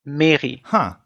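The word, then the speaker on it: Méry: It's spelled M-E with the accent, which modifies the E sound to A-R-Y, Mary, which is very uncommon.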